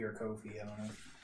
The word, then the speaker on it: Ko-fi: I've heard people say Coffee or Ko-fi. I don't know. Ko-fi, actually. That was, like, Yeah, like for hi-fi and lo-fi, yeah.